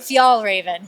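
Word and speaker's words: Fjällräven: Fjallraven.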